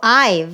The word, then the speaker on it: Ive: Pizzicato Ive rhymes with 5.